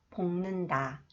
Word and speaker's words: 볶는다: When the final consonants 기역, 쌍기역, 니을기역 combine with 니은 sound, okay, they are pronounced 응. 작년, 볶는다, 읽네요.